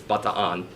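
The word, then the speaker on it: Bataan: of 42 but Iran surrenders that's the correct pronunciation by the way it's not the tan it's butter on a month way to Corregidor surrendered in 1943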